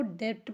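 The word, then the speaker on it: debt: मतलब होगा अंगूठा अंगूठा डी ई बीटी को डेप्ट पढ़ते हैं डेप्ट का मतलब देखिए इसमें भी हम बी नहीं पढ़ रहे हैं बी साइलेंट है तो डेप्ट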